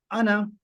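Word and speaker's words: أنا: ये आखिरी अलिफ जो है ये साइलेंट है। अना, मैं।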